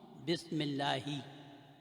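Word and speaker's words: بسم الله: Bismillahi, over here this Hamzatul Wasl is not pronounced, so we pronounce Bismillahi.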